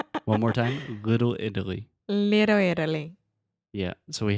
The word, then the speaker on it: Italy: Think about this as a D sound. Italy.